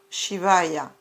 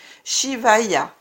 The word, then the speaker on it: Shivaya: Chantez Om Namah Shivaya afin de raviver votre paix.